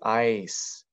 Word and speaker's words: ice: I, the E is silent. It's the magic E that makes the I say I because there's a letter in the middle between them. So this word is ice, and that's a word by itself.